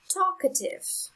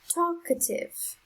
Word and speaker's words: talkative: syllable next example is talkative talkative the syllable with the strongest sound is the first one the next example is